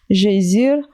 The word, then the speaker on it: geysir: Le geyser, mot que les Islandais prononcent geysir, et qui signifie fureur, s'élève majestueusement à son extrémité.